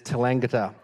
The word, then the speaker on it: Tallangatta: I have been advised it is Tallangatta.